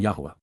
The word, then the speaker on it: Yahuwah: be eternally separated from Yahuwah. As we learned long ago, the proper pronunciation of Yahuwah can be discerned by examining other commonly used Hebrew words containing the same vowels.